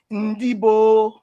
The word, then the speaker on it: Ndibo: they call themselves Ndibo, Ndibo. And what does that mean? Ndibo. That's how they pronounce Indibo.